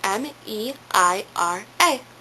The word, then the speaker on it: Meira: It's meira, okay? It's spelled M-E-I-R-A.